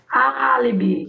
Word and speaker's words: álibi: No A, álibi. A sílaba forte é A.